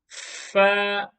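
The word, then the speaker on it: ف: to box number twenty far far far is pronounced like the letter f meaning in the english language fair a very easy letter to pronounce the next one is box number 21.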